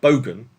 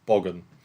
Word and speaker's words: bogan: Aaron's telling me bogan is spelled, well, bogan is how you pronounce it, not boggin.